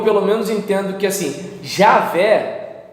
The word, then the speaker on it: Javé: alguns executivos acham que javé eu pelo menos entendo que assim jaffé pra mim é complicado porque não tem j no alfabeto hebraico antigo é entende ea o que